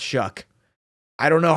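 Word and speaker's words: Shough: first ever start for Shuck. I don't know how that's his name. I looked up his pronunciation. Somehow it's shook.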